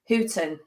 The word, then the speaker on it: Houten: and you did spell you did pronounce my name correctly hooton thank you Jesus although